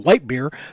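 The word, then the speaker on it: Leitbur: Yes, it's pronounced Lightbeer.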